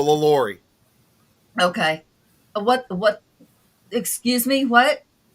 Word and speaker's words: LaLaurie: Delphine Lorelei. Oh, Delphine. Oh, Did I say it right? yeah. No, LaLaurie.